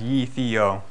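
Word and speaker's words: Gytheio: a completely new framework called ytho pronounce you probably can't see that pronounce ye Theo I get a lot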